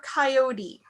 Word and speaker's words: coyote: Is it pronounced coyote or coyote?